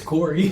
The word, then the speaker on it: quarry: How do you say that? It's Corey. Quarry. Okay. So they go Query there.